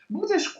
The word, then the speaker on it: будешь: This accent means that the stress is on this letter. Okay, but So in all these words where the stress is on it, you need to pronounce the vowel as a long, loud sound. okay, but Можно, можно, будешь.